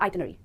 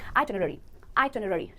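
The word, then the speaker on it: itinerary: गलत प्रोनाउंसिएशन है आइटिनरी, और सही प्रोनाउंसिएशन के लिए आपको ध्यान रखना है कि इसमें है आई, टिन, फिर रेडी। आप इसका स्क्रीनशॉट ले सकते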